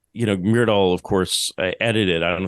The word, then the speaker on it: Myrdal: Clearly, Gunnar Myrdal was, am I pronouncing that correctly?